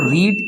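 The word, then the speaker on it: read: हज ही रेड book अब इसको रीड की थर्ड फॉर्म को हम क्या पढ़ते हैं रेड ठीक है स्पेलिंग वही होती है अब हम पढ़ेंगे इंटेरोगेटिव सेंटेंस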